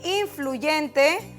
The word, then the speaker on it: influyente: Tenemos aquí influyente, que nuestra sílaba tónica es yen y es una palabra grave. Ahí está. Es una palabra grave porque su acento está en la penúltima sílaba.